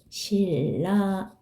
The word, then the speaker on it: 신라: 신라 이렇게 발음되죠.